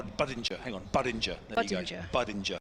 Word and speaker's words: Budinger: It's it's like hinge apparently. So, it's bada. Badinja. Badinja.